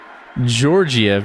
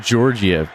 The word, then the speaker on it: Georgiev: man i love it it's pronounced georgiev not georgia no i i know